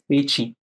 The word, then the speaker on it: Petchi: Did I pronounce properly? Sir, sir, it's Pichi.